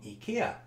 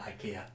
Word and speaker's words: IKEA: of these this is the collect unit from Ikea and yes that is probably the correct pronunciation although most of us call it Ikea now this unit the